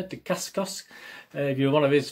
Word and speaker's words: Dacascos: my other outcomes again i pronounce his name is it dick's disgust uh yeah de kaskos if you're one of